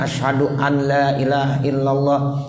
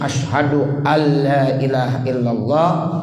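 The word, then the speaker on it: أشهد أن لا إله إلا الله: udah sering Aji sehingga jangan sekali-kali membacanya Adha Duh aneh ilaha illallah wa Asyhadu anna muhammadan Rosulullah jangan begitu jangan dibiasain dirobah jadi harus asyhadu alla ilaha illallah wa Asyhadu anna Muhammadar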